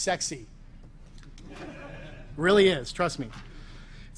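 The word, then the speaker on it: CEXC: first is called c-e-x-c this is pronounced sexy really is trust me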